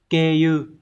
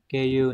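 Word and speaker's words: 経由: Từ số 1, từ này đọc là keiyu. Có hai cách đọc nhá, hoặc là trường âm hoặc là không cũng được. Keiyu này. Hoặc là keiyu.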